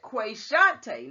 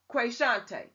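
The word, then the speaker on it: Qashontae: article it says that quesante now i think that's how you pronounce it qa capital s-h-o-n-t-a-e now i would say quesante but it could be pronounced another way so i don't mean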